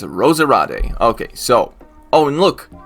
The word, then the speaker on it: Roserade: pronounced roserade's name wrong i'm pretty sure it's pronounced rosariate okay so oh and